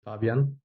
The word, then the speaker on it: Fabian: so many different names is it Fabian or Fabian which one is it originally in German it's called Fabian okay cool um but